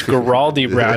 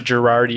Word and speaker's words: Guaraldi-Brown: And since my last name is Guaraldi-Brown as opposed to Girardi or Garibaldi, there's no B in there, sir.